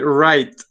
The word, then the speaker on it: write: So we write it with W at the beginning, but the W doesn't sound. Okay, so it's going to be write.